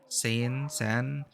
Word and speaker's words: Seine: How do you pronounce that again? Seine.